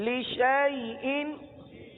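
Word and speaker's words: لشيء: الف ختم ہو گیا، الف کو نہیں پڑھنا، شین کو یا کے ساتھ ملا کر پڑھنا ہے۔ اب مثال کے طور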